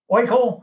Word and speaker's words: Oikle: me we've got uh james svetek and riley oikel i hope i'm pronouncing your name properly riley is that all